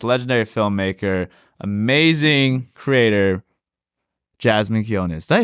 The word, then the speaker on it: Quiñones: the legendary artist legendary filmmaker amazing Creator Jasmine kones did I pronounce that last name right you actually did